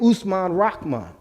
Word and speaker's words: Usman Rahman: On the bottom is one named Usman Rahman, but they spell it R-O-C-K-M-A-N. You know, Englishized it, but his name was Usman Rahman.